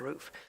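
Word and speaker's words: RUF: I don't know whether the rough in this one is roof it's pronounced roof I don't know if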